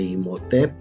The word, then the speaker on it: Imhotep: Y por ejemplo este nombre de Imhotep, igual la sílaba tónica es Tep, termina en P, no lleva.